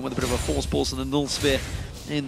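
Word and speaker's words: Voorspoels: For anyone that wants to know how to pronounce his surname, Force Pulse. Just say Force Pulse. Say it like you would say Kassadin with a bit of a lisp.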